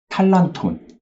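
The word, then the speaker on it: τάλαντον: 이런 것들을 달란트 이제 헬라어의 어떤 그 발음으로는 탈란톤 이렇게 이야기를 하고 있습니다 우리는 그동안 그 달란트에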